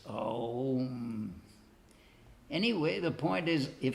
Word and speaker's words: Aum: In other words, it's not really O as in the English O, it's Aum. In other words, it's a diphthong. It's not just a single sound, O, it's Aum.